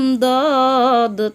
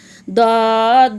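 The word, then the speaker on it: ض: দদ, দদ উচ্চারণ কেমন হবে? দদ সামনের নিচের দাঁতের সামনের দাঁতের সাথে না লাগিয়ে মাড়ির দাঁতের গোড়া থেকে মোটাভাবে আদায় হবে, নইলে দাল অথবা জ অক্ষর আদায় হয়ে পড়া হারাম হয়ে যাবে।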